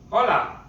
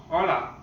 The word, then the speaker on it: hola: Now, in Spanish, it's hola, hola. And remember that in Spanish, the letter H, if it is put in the beginning of a word, it's not pronounced at all. It's mute, like hotel, hotel, right?